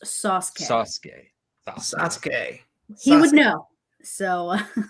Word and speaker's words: Sasuke: Dr. Applesauce says it's pronounced Sasuke.